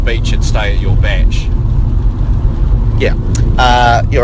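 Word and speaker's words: bach: A batch.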